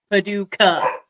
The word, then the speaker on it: Paducah: Paducah is spelled with a C, by the way, PNW. It's Paducah. Paducah.